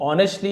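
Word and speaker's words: honestly: The king reply ऑनेस्टली। ऑनेस्टली यानी ईमानदारी से एज साइलेंट है।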